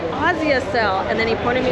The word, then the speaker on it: Asia Cell: And I was like, Asia Cell, because you know that's how an American would pronounce Asia Cell, a SIM card store. But then he was like, Asia Cell, and then he pointed me across the street.